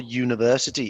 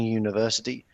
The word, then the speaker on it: university: you say before university it's not an university because it's not easy in your mouth to do it and university our university is so much easier because you've got the sound even though it begins with a vowel it's not a vowel sound okay so we know